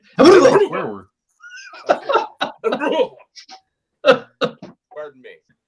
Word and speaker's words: embrujo: J It's or Y sound? neither. It's embrujo, like an H, like Oh, embrujo, like Jose, like embrujo, like yeah.